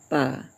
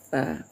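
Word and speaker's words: ف: F fa itu ya tidak sama dengan huruf eh dengan ejaan bahasa Indonesia. Fa fa. Kalau bahasa Arabnya fa ya. Pa fa pa fa pa fa ya. Kalau bahasa Indonesia pa.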